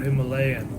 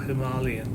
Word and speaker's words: Himalayan: Um also remember this is effectively a Royal Enfield Himalayan or Himalayan depending on how you pronounce it where you're from.